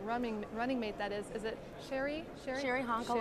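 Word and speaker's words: Cheri Honkala: your vice presidential running mate, that is it Sherry Hankala? Sherry Hankala, right. I wanted to pronounce that right, so welcome.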